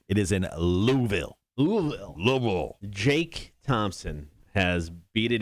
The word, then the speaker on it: Louisville: the uh the racetrack right it is in louisville jake thompson has beat it into my head